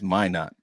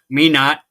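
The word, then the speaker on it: Minot: pronounced it's pronounced Mino or Mino the t is silent bro no it's not it's my not my not is yeah my not North Dakota unless you're from North Dakota and then it's me not let me see sweet light oil yeah yeah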